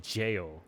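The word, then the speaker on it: Gaol: The name of that is always misleading for people just because the pronouncing is like strange, or the spelling is weird, like the Ghoul, most people do, but it's just a weird spelling for jail, like the jail cell that we're in.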